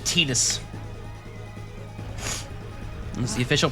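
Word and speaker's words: Tidus: Said Tetus. That's the official pronunciation.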